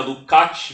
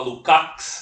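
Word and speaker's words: Lukács: em georg lcat né em Húngaro se pronuncia lukat mas aqui no Brasil fala lucx né então eu prefiro falar Luc ao invés de lucx né e ele ele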